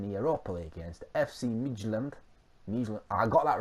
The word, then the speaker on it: Midtjylland: We're in the Europa League against FC Midtjylland. I got that right. I've heard it pronounced.